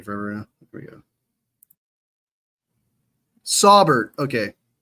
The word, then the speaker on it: Saubert: Saubert. Okay. Saubert. All right, cool. That's how you pronounce it.